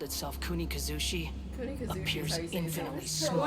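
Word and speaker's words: Kunikuzushi: Looking back, the existence of what once called itself Kunikazushi appears infinitely small. Kunikazushi is how you say your name.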